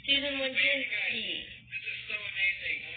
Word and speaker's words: Wojcicki: I don't think I pronounced that right. It's Susan Wojcicki.